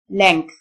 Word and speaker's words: length: طول أو مدة length، الجي تنطق كه يعني كاف، والتي اتش تنطق ثه، length، length.